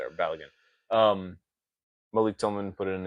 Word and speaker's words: Balogun: Balogun? Balogun.